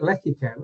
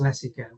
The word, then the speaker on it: Lecico: always start with um people do call it Leo and I I can confirm that it is leso so I appreciate you know we' worked together for a long time so you do know how to say it say it properly so yeah who are